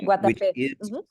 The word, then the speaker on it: Guatapé: Not far from Medellin, we're going to make a little day trip up to Guatapé. Guatapé, did I pronounce that right? Yeah, Guatapé.